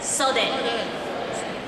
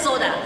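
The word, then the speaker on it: 袖: It's called sode. Let's say it together. Sode. Great. I'll give you a quiz. So this part is, and then this is, somebody says soda. Sode.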